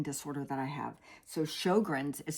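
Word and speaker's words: Sjögren's: So, shoggrins is spelled s j o g r ns.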